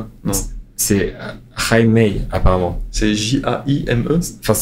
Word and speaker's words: Jaime: Je fonctionne avec la prononciation affichée sur Basketball Référence, mais. C'est bien Jaime ou pas ? Non. C'est Jaime, apparemment.